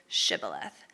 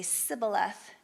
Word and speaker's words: Shibboleth: asking them to say Shibboleth. And unable to pronounce the sh sound, the Ephraimites are exposed and killed when they say Sibboleth instead.